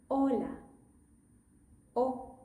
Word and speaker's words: hola: Okay, that word should have been pronounced like this. Hola O. The most common mistake is for people to go with hola.